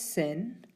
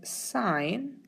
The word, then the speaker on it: sine: one is tangent now be careful that you don't pronounce this as sin as it is sine cosine and tangent so